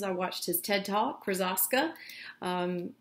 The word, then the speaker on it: Krosoczka: j krasaska the way i learned how to pronounce his name is i watched his ted talk krazaska it's awesome if you are interested you should